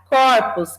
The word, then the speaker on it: corpos: em relação a pronúncia corpo o primeiro o é fechado né Toda a gente vai para corpos é aberto ou seja tanto essa